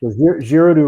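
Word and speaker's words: Giraudoux: source material for this is french right yeah girodu wrote this sort of like fantastical you know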